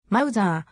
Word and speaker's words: Mauser: 騎兵銃カラビナ 98 k mouser ドイツ語 mouser ドイツ語発音ま z は 1872 年に mouser